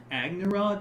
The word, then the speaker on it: Agnerod: Is it Agnerod North Imperial Staff? I'm pretty sure it is Agnerod, yeah.